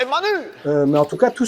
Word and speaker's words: Manus: euh bon en fait ça se prononce manos manus mais en tout cas